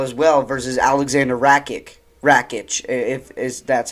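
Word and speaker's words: Rakić: back in April as well versus Alexander rakic rakic if is that's how you pronounce his name and then you see uh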